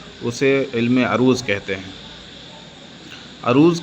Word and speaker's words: عروض: علم عروض کہتے ہیں۔ عروض کا صحیح تلفظ عین کے زبر کے ساتھ ہے، جیسا کہ میں نے ابھی بتایا۔ عروض جاننے والا شعر